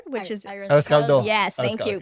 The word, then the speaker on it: arroz caldo: Arroz calor, which is Arroz caldo.